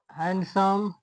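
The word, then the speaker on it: handsome: दूसरा नियम है यदि एन के बाद डी आए तो डी साइलेंट रहता है। जैसे वेडनेसडे हैंडसम ग्रेन सन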